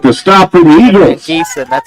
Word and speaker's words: Van Giesen: Geeson, that's how you pronounce it.